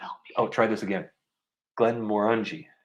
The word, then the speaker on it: Glenmorangie: Glenmorangie. Oh, yeah. Rhymes with undies. Did I get it? Undies? Well, I guess. Glenmorangie.